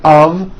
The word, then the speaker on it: of: Even though the word of is spelled with an F, we pronounce the word of with a voiced V.